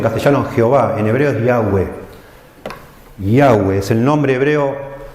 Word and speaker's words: Yahweh: El Salmo comienza con el nombre hebreo que nosotros ponemos en castellano Jehová, en hebreo es Yahweh.